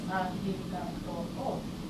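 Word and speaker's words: ありがとう: In Japanese, there is no R sound. Some people say it's arigato, by the way. Arigato, arigato, some people say that between L and R.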